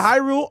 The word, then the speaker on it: Hyrule: a different name theu you say the high rule okay I said it right I said it right